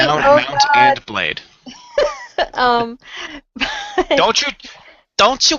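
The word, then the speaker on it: Mount & Blade: say that it's Mount And Blade not Mountain blade which is seriously what I thought you've been saying for like the last day Mount And Blade um don't you don't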